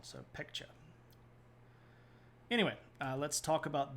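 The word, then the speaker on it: Baekje: green one is the peka and I know that's spelled with a B but you say that with a p and the AE makes it sound like e and then the this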